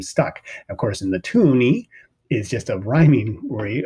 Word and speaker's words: toonie: It's just the fact that it rhymes with loony, and there's two of them, $2 meaning toonie.